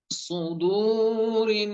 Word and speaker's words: صدور: সো একটা হচ্ছে সো, সয়াদে পেশের উচ্চারণ হবে সো, আর সিন পেশের উচ্চারণ সু। সু শেষ হবে কিন্তু পাতলা শেষ। ঠিক আছে, আমরা এটা নিয়ে পরবর্তীতে বিস্তারিত জানবো ইনশাআল্লাহ। صدور صدور صدور এরপরে সবার